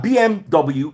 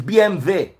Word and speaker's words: BMW: call it with them the car BMW is not BMW it's BMV ask anybody it's German BM there that's what it